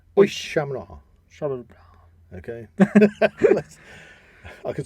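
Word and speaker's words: Oíche Shamhna: In this tradition, Samhain is called Och Shamna. That's a lot harder to say. Or Oish Shamna. I think it's better if you say it fast. Oish Shamna.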